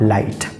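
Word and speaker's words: light: माइट उसी तरह से एल आई जीएसटी जीएसटी शब्द के अंत में आया है इसमें भी जी एच आया है और जी एच साइलेंट माना जाएगा और इसका सही उच्चारण हो जाएगा लाइट टीसी मैं उम्मीद करता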